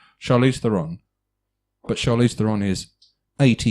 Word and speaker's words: Theron: right so Charlize Theron Charlize Theron right and it's pronounced Iran everyone all right looking